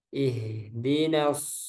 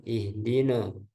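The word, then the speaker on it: اهْدِنَا: Ihdinas siratal mustaqim. Nah, jadi bukan no. Shotnya tebal, nanya tipis. Nah, bukan no. Ya. Ihdina bukan ihdino no tapi nah kemudian shotnya tebal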